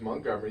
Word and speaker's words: Montgomery: pronounced it right folks Montgomery the T is silent yeah it was her